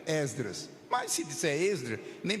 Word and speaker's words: Esdras: obreiros muita gente pronuncia exedras se você puder pronuncie com o e aberto Esdras mas se disser esdr